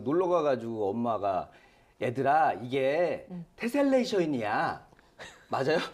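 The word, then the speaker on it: tessellation: 아, 근데 좀 신기하긴 한데 그 놀러 가가지고 엄마가 얘들아 이게 테셀레이션이야. 맞아요? 테슬레이션? 발음이 아, 계속 왜요?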